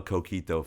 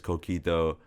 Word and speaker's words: coquito: But it was only because Coquito has 3 syllables and eggnog has 2.